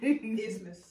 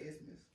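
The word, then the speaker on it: isthmus: Ithmus. We said that. No. Y'all did not say Ismus.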